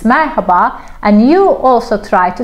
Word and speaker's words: Merhaba: for example of course this is the right pronunciation I wish everybody talk like that like Marhaba Marhaba but we don't we say maraba not no such a thing as silent h in Turkish there is no silent letter every letter has a specific pronunciation but this is not the reality out there in the streets we don't read the H here okay letter H not